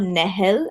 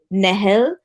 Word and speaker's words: Nehel: My film is called Nehel, and that's how it's pronounced in Arabic. Nehel, from the hives of Oman.